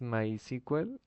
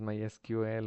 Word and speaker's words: MySQL: Lo que es María DB y My Sequel, perdón, es que antes era, antes se ponía así, Sequel y se me quedó la pronunciación, pero es My SQL o mi my SQL.